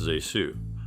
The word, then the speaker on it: ZaSu: world of Cinema zesu Pitts whose first name is pronounced ASU was an actress with